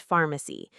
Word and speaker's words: pharmacy: Notice how we say the nearest pharmacy, not pharmacy with a hard F sound like in some other languages. In English, PH makes an F sound.